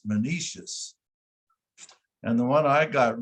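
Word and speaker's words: Menoetius: And then Patroclus is one of the big ones, and Menetius, John, that's it doesn't look like that, but it's Menetius.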